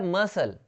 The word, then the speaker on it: muscle: सी कई जगहों पे साइलेंट रहता है, जैसे कि यहाँ पे देखिए MUSCLE, ये हो जाएगा मसल। क्या हो जाएगा, मसल। यहाँ पे सी साइलेंट है, इसका मतलब होता है मांसपेशी।